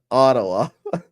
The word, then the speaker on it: Ottawa: Ottawa. That's how they say it. The people of Ottawa. Ottawa. Hala wallah Salman.